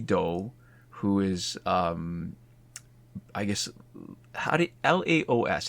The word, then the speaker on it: Laos: It's a movie by Maddie Doe, who is I guess Laos. How do you pronounce that? Laos, Laos, yeah, like the country.